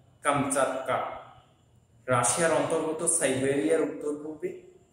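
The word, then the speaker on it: কামচাটকা: আচ্ছা, আরেকটা শব্দ এখানে দেখতেছি, কামস কাক্কা, প্রকৃত উচ্চারণ কামচাক্কা, রাশিয়ার অন্তর্গত সাইবেরিয়ার উত্তর পূর্বে ভৌগোলিক একটা অবস্থানের কথা এখানে চলে আসছে, অবস্থিত একটি উপদ্বীপ।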